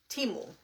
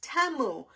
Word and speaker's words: Temu: I was saying that I used to say teu because that's what everybody calls it and then I was watching a commercial the other day and my daughter says look Mom it's not timu it's TAMU and well I mean